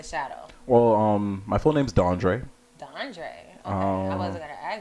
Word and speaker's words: DanDré: But I always grew up with people not being able to pronounce DanDré. They thought I was DeAndre or DanDré.